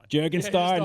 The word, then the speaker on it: Jurgenstein: Can you Can you give us one little Jurgenstein? Jurgensstein.